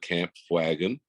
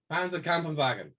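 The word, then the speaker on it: Panzerkampfwagen: But I forgot I was doing the Russian front German Panzer camp wagon. Wagen. So can you pronounce it for us? Panzer Kampfwagen.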